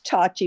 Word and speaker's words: Tochi: you're displeased but miss tochi has the floor sorry and then and um uh Sheila it's it's touchy but don't worry my whole life everybody's pronounced my mispronounced my man my life about